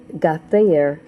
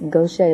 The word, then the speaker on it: Gauthier: And when I say it, I say got there, but it's not. It's because his mom said it's Gaucher, like he said. But it looks like got there for Americans and up northerners, the way it's spelled.